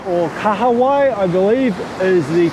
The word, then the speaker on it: kahawai: swim between the lines anyway so the first kawaii or kahawai i believe is the correct pronunciation but i grew up different just learned